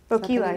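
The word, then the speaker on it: Boquila: Okay, the next one on my list was, I'm not sure I'm going to pronounce this right, Boquilla? Boquilla, yeah.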